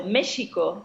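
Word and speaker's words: México: so they would they were called Masika so michigo is the proper pronunciation for Mexico and magical because Mexico is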